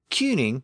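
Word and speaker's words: cyning: a sound shift here it did not become chuning it remained cuning and cuning is the original version of the modern word King and so you still see that original spelling c y n i ining in Old text but again it retained its original k sound it did not shift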